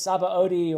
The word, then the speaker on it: Sabaody: And I will be reading the Return to, now I'm going to say it Shabandi, and I know every time I say Shabandi, I get comments saying, no, it's Sabaody or it's something else.